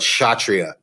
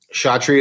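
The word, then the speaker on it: Kshatriya: to pronounce them and this is one that kids usually butcher but satria shaatri is the warrior class of the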